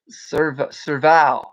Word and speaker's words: serval: Several, several, I'm trying to pronounce it. Several, serval.